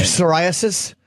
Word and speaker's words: psoriasis: psoriasis? That is a silent P.